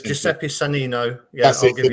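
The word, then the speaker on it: Giuseppe Sannino: so that's Santino. It's bad pronunciation, but it's it's Giuseppe Sanino.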